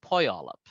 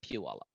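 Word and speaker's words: Puyallup: tribe's name uh the the way they pronounced it was poi olap not pewallop so um you know that's a hard one for me to to uh learn because i've been pronouncing it pu all up for years but that's something that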